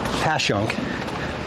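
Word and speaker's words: Passyunk: I've heard that's definitely how you know that someone's either not from here or new to the city is how they pronounce things like Skookul and Whisken, Pashunk, uh, all of the uh, all of the various complex names.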